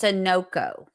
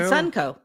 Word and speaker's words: Sunoco: And the gas station is pronounced Sunoco. So I always called it Sunco.